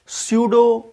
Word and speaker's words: pseudo: Hello प्यारे बच्चों, आज हम बात करेंगे स्यूडो फर्स्ट ऑर्डर रिएक्शन क्या होता है। स्यूडो first order reaction, P लिखा है लेकिन पी साइलेंट रहता है, स्यूडो ही पढ़ते हैं उसको, ठीक है।